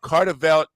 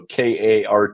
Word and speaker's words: Kartvedt: I will generally say standard spelling because it's spelled with a lot of consonants. And the Cartvet is the most common mispronunciation. There's no L in it. Cartvet. If it was spelled Cartvet, everybody would get it right. But it's the K and the D that throws everybody off.